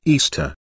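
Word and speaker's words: Ishtar: celebrated a festival called Easter ish ah which is pronounced Easter was a day that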